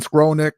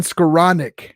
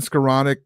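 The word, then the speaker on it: Skowronek: the field Benny Benny's he deserves his last name to be said right Ben scroll Nick um uh Ben scaronic excuse me I got so used to saying it wrong uh Ben scaronic uh get him the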